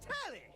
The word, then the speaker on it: Tally: The name's Tally. Rhymes with Nelly.